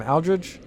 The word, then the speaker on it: Aldrich: That's how you say his name, Aldrich.